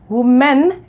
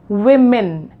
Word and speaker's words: women: pronunciation of this word the correct pronunciation of this word is not who men it is women the correct pronunciation of this word is women divided into two and